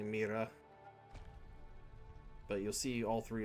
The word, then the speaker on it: Moira: I hate that they the game pronounces it Moira because it's actually Mera.